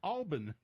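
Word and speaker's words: Albin: It's supposed to be pronounced, I don't know why, Alban.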